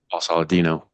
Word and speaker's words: Saladino: Paul Saladino.